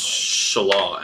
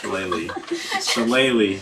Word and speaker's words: Shillelagh: I cast Shala, and then I'm gonna attack. Shillelagh.